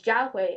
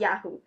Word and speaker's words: Jiahui: Even the people who don't understand that my Chinese name pronunciation is Jiahui and not Yahoo.